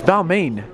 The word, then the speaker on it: Balmain: It's Balmain.